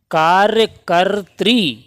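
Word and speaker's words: कार्यकर्त्री: आने वाला शब्द है कार्यकत्री यह इसका सही उच्चारण और सही वर्तनी होती है कत्री यहां पर यह त्रा रहेगा और ऊपर भी आधा रा चढ़ेगा इस पर समझ गए कार्यकत्री यानी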